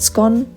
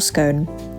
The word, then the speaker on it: scone: Now, the ultimate question is, do you pronounce it scone or scone? According to etiquette experts, the late Queen Elizabeth II did always say scone, but ultimately both are correct.